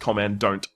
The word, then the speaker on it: Commandant: been command don't or commandant pronounced command don't uh and I forgot